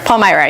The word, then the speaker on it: Palmyra: Palmyra, yes.